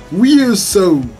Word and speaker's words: VRZO: VRZO. I was not able to pronounce it properly, but someone told me it's VRZO. So that's why I know to say VRZO with FEDFE.